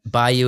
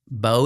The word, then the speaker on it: Beau: like between this and playing Napoleon, and then Bayou is Afraid that came out. Yeah, he's gonna have some messed up stuff. Bo is Afraid.